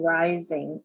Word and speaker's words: Reising: And it was written by Susan Rising, and her last name is spelled Reising, and it's Lola as Lola.